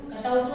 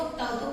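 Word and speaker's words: क्तवतु: कतवतु नहीं पढ़ेंगे, इसको तवतु पढ़ते हैं। आधा क साइलेंट है, तवतु प्रत्यय।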